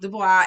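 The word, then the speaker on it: Du Bois: tubman um w.e.d dubois that's i think that's nice last name is pronounced dubois and then uh marcus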